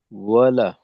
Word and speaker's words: ولا: عابدون ما أعبد আচ্ছা, এখানে একটা তো হলো যে ওয়ালা, ওয়াবের উচ্চারণ অ যেন না হয়, ওয়া ওয়ালা।